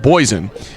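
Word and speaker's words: Bogessen: the bulk of the action but also mike boyzen getting some action as well number seven his last name is spelled b-o-g-e-s-s-e-n but it's pronounced poison so to uh and he did a nice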